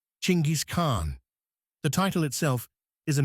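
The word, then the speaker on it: Chinggis Khan: In the West, we pronounce it with a soft G or a J sound. Zenis car N. But in Mongolia, it's hard. It's guttural. It's G. Chingis Khn.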